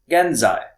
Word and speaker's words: genzai: And present is genzai. Genzai is spelled G E N Z AI.